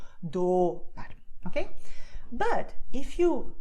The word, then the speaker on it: dólar: So if you say dólar, the do part of it is going to be a long movement. Your tongue is like enjoying the ride, okay? So it's doing dólar, okay? And there's a lot of contact with you. You can actually feel your teeth in the tip of your tongue if you do dólar, okay?